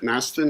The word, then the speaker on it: Masten: your last name Chris is it Masten am I saying it right yeah so she's she's not